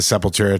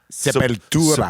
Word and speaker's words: Sepultura: Oh, it's like actually a Spanish word. Well, Portuguese, I guess.